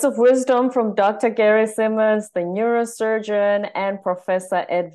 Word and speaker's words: Simonds: No, it is Simonds. It is Simonds. But when people ask me, you know, how do I spell it?